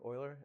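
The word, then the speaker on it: Euler: By the way, if you if you if you pronounce it uler then you will fail your exam. And uh right so uh forward and backward oiler basically make very simple approximation.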